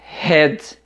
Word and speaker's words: red: tem pessoas que fala redes o e redes e é cabeça redes o vermelho pronunciamos red a red way red certo observe bem que temos a pronúncia com h e a pronúncia com r oi e essa pronúncia